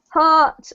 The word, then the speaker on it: heart: this sound here and heart rhymes with cart or smart Okay so hurt heart